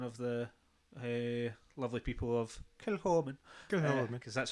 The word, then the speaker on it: Kilchoman: I think remember I was told for one of the lovely people of Kilchoman, because that's how they say it.